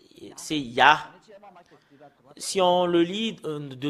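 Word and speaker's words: יה: Et nous avons vu que il y a vraiment il y a vraiment un terme qu'on le prononce, c'est ya.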